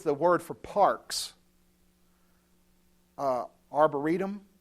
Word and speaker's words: arboretum: word for parks uh arboretum is that the word that we have nowadays he built himself arteriums however you say it i said it right the first time don't laugh at me